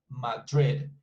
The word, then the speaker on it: Madrid: So as you can see, it's just 2 syllables, Madrid, and Bilbao.